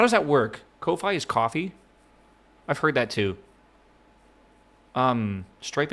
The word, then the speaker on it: Ko-fi: Yeah, it's pronounced coffee, if that wasn't clear though. I'm going to keep saying Ko-Fi though.